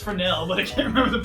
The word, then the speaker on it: Fresnel: Okay, it's pronounced Fresnel, but I can't remember the proper spelling at this juncture.